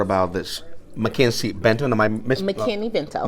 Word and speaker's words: McKinney-Vento: Am I McKinney-Vento. McKinney-Vento. I don't want to mispronounce.